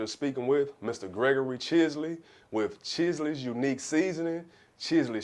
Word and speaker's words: Chisley: What is the origin of Chisley seasoning? And I'm pronouncing it correctly, right?